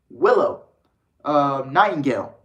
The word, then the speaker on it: Willow Nightingale: New Ring of Honor owning Tony Khan took to Twitter yesterday evening to announce Mercedes Martinez versus Willow Nightingale. That's how you pronounce it.